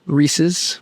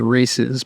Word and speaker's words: Reese's: it tastes like uh Reese's or Reese's depending on your pronunciation I believe correct pronunciation is races but I have been